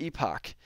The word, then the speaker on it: epoch: that you have to know the epoch and so or the Epic there are different ways that I've heard people pronounce this um but that is